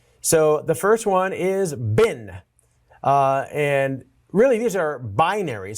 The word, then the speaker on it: bin: So the first one is bin. And really these are binaries. So perhaps I should pronounce it bine, but that sounds kind of weird.